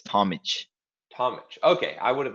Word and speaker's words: Tomic: It's pronounced Tomic. It's like similar to, I guess people know like Novak Djokovic. We have from Balkans. I'm Croatian, so we have the ch at the end instead of a c.